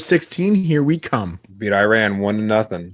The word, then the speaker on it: Iran: our country name wrong it's Iran it's not Iran right and then he